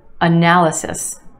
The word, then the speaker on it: analysis: individual try this one analysis analysis for syllables in this word with emphasis on the second syllable that a sound analysis and yes there are